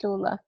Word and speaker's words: Tastula: How would you pronounce it? Tastula, yeah, Properly, right? Tastula.